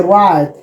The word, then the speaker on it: write: Write to how we are We have write. The W is a silent. W is silent. Why? Then we say write.